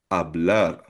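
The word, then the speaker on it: hablar: So for example, isa sa example ng regular verb na AR or regular AR verb ay ablar. Ablar silent H siya. Ang ibig sabihin na ito speak or magsalita.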